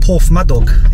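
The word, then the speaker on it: Porthmadog: but this is uh Port my dog because it's pronounced differently on the uh you have arrived they pronounce it por myad do in uh on the uh SAA which is interesting but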